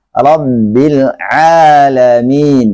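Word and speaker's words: رَبِّ الْعَالَمِينَ: Jadi bacanya yang benar adalah Rabbil Alamin. Pakai ain.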